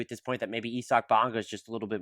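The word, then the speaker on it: Isaac Bonga: First off, I had no idea until about 20 seconds ago that it's pronounced Isak Bonga.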